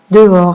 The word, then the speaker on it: dehors: Regardez le mot dehors. Faites attention. Dehors. Hein, il y a un H ici qu'on ne prononce pas.